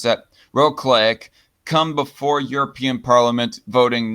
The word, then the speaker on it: Wrocław: The positions that Kaczynski took Wednesday in a lecture on patriotism in the central city of Wrocław, how do you pronounce that? Wrocław, come before European Parliament voting next month and a general election in Poland in the fall.